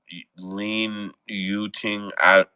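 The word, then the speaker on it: Lin Yu-ting: Lin Yuting. I don't know if I get the pronouncing exactly right, but I'm trying to just say how it's spelled.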